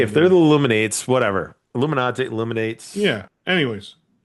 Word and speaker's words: Illuminate: I'm pretty sure it's not supposed to be pronounced Illuminati. Yeah, it is. Or Uh, illuminate.